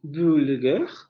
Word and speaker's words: vulgaire: Entonces no van a decir vulgaire, sino van a decir vulgaire, vulgaire, vulgaire, porque van a relajar la apertura de esa, perdón, el cierre de esa vocal, ¿sí?